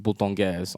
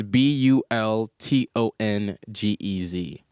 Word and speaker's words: Bultongez: It's actually Bultongez en français, but adjusted it so people are gonna, and people still mess The it up. English pronunciation. Yeah. It's Bultongez.